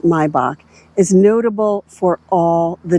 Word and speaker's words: Maybach: The Maybach, and it is pronounced Maybach, is notable for all the details on this car.